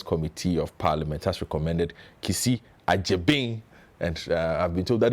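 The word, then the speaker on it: Kissi Agyebeng: being is a g y e so it's kisi achi bing uh for approval as special prosecutor so we'll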